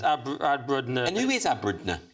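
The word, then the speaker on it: abrdn: Aberdeen has defended its decision to drop the vowels. What's this about? Yes, dropping vowels hasn't done us any harm, insists Aberdeen. So you pronounce it Aberdeen.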